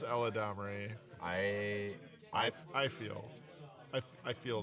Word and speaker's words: Eladamri: Sorry, Eladamri, as I heard for the first time on a Magic stream, like the weekly MTG. Eladmri? Yes. That's how they think you pronounce that? Well, that's how one particular person on the weekly MTG Magic stream pronounces it. and Eladamri. It is Eladamri.